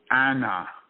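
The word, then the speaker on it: أنا: the pronoun i in the quran which is pronounced anna is actually the ancient um sumerian deity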